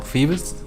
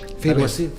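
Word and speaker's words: Phoebus: El cártel que me parece que se pronuncia como Fibes. Sí, Fibes se pronuncia.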